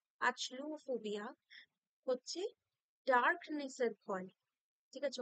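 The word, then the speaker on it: achluophobia: ইউ ও পি এইচ ও বি আই এ আচলুফোবিয়া হচ্ছে ডার্কনেসের ভয় ঠিক আছে অন্ধকারের ভয় ঠিক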